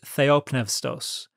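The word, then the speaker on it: θεόπνευστος: who are not aware, I use modern Greek pronunciation when I pronounce the Greek of the New Testament, so it's going to sound a little different to you. But the word there in Greek is theopneustos.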